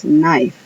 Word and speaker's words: knife: Luego tenemos knife, que quiere decir cuchillo. Ahí la K de kilo no suena. Knife, la K de kilo no suena.